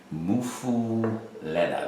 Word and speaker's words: Muffuletta: This classic Muffuletta, that's how they say it, at the Central Grocery.